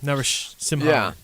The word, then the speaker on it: Narasimhan: Laxman Narasimhan. You saw that one coming. Not bad. I think you're missing a syllable there, but that was not too bad. Narasimhan.